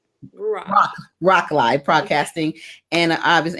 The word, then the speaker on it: Ruach: radio personality host, but you own Ranch Live. Am I pronouncing that right? It's Broadcasting. Ruach. Ruach.